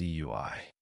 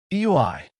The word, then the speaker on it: Eui: It's Eui, said the man now known as Eui. Eu, responded Naruto as he tried to read Eui's lips. Eui, thought the team to correct Naruto. You have a lot of nerve mispronouncing my name.